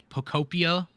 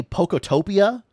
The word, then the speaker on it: Pokopia: We kept wanting to say Pokotopia or something. We kept wanting to put a T in there. There's no T.